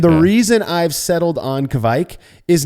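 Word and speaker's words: kveik: I call it kvike. I used to call it kvake. And all of those, and I've said kvik a million times as well, all of those I was told as the kvike thing started to explode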